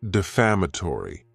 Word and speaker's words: defamatory: Next is the word defamatory, and this word has 5 syllables, and the stress is on that second syllable.